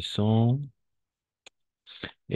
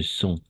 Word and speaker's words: sens: Je me sens. Et vous devez choisir deux. Vous devez choisir deux adjectifs. D'accord? Deux adjectifs. Je me sens. D'accord? On va prononcer je me sens. Pas sense.